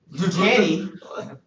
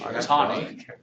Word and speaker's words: Taney: this guy, oh man, Tanny, look at these characters. Tawny. Tawny, or yeah, how do you say it? Is it Tawny? Most of the time it's Tawny.